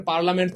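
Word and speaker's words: parliament: ব্যতিক্রম প্রিয় ভাই আমার শব্দটা যদিও আমরা বলি পারলামেন্ট কিন্তু উচ্চারণটা আপনি এভাবে মনে রাখবেন পারলিয়ামেন্ট শেষমেন্টটা মনে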